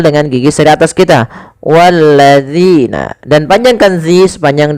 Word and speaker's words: الذين: sini pada lafal zina, hati-hati di dalam melafalkan huruf zal. Jangan sampai kita membacanya menggantinya dengan huruf zai. Misalkan wallazina, ini salah. Kenapa? Karena dia merubah huruf zal menjadi huruf zai.